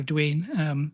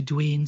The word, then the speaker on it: Duane: Americans pronounce A-N-E as Ain rather than Anne, as we'd say. One of them then became this man, Alexander Duane.